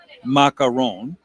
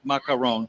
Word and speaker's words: macaron: The first thing I want to say is it's it's pronounced macaron, right? Three syllables. Macaron.